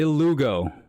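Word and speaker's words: Illuga: Hugo, is that an E or an I? So that's that's an I. I L L. I ilugo.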